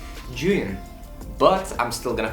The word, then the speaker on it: Zhiyun: It's actually Zhiyun. But I'm still gonna call it Zhiyun because that's more convenient for me.